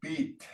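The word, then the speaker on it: piit: So number one, everybody, ma go beat. Mako beat. Ma go beat. Now the last part is spelled it's spelled P-I-I-T, but it's pronounced beat like that.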